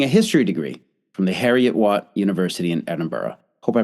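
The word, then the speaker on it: Heriot-Watt: his storytelling, holding a history degree from the Harriet Watt University in Edinburgh. Hope I pronounced that correctly. Almost. Oh, how is it pronounced? Harriet Watt.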